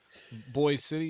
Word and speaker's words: Boise City: Is that how they pronounce it? Boy City. Yeah.